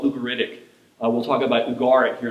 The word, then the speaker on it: Ugarit: So you may have heard it called Ugarit, but it's, I think it's pronounced Ugarit. At least that's how people that I respect say it.